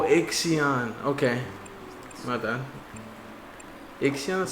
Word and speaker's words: Ixion: It is not an L. Oh, Ixion.